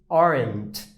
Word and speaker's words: aren't: eu tenho Aren né na verdade eu não leio o re né não é arent né e sim arent né Eu falo isso daqui né como se fosse um a arredondado né como se eu